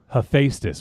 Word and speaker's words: Hephaestus: this says hephaestus hephaestus hephaestus there you go hephaestus ravenchado that's stupid that no that's that's a